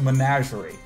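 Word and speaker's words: menagerie: prepar the word that nobody can pronounce it's pronounced managerie and you all should have read the play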